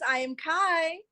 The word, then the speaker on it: EYEAMKI: absolutely i am kai now you spell that i i mean e-y-e a-m-k-i right yes e-y-e a-m-k-i because i see everything baby let's go okay